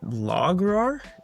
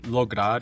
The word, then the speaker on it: Lograr: Speaking of, you are the founder of is it Lograr? Is that how you pronounce it? Lograr, yeah, it's in Lograr.